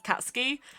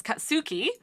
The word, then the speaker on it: Katsuki: people pronounce it as catski and it makes me want to rip my eyes out because it's katsuki that is how you pronounce the japanese name his name is katsuki